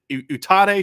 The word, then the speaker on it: Utade: Is it Utade, Sean? Okay, yeah, Utade.